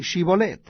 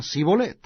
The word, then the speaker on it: Shibolet: Si él respondía, no, entonces le decían, ahora pues di Shibolet. Y él decía Sibolet, porque no podían pronunciarlo correctamente.